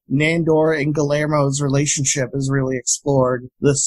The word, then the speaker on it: Guillermo: You gotta get that Spanish pronunciation, man. It's Guillermo.